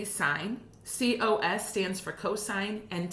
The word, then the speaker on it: sine: sign s I and II but it is pronounced like s IGN sine cosine and then tangent and tangent does get